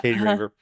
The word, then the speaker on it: Katie Raver: Katie Raver. Is that how you pronounce it? Am I pronouncing it right? Yeah. Katie Raver.